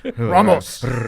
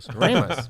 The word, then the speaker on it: Ramos: Ramos. Ramos. Depends on how angry I am at you. I think how hard I roll that R.